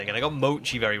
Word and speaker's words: mochi: I can't tell you how many times I got someone say that it it's not mocky, it's mochi, which is fair to be honest.